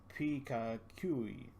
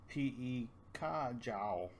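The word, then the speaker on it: 皮卡丘: In Cantonese, it becomes P-E-Ka-Jiao. And as you can tell, it's very different from the Pikachui. Pikachui, Pika-Jiao.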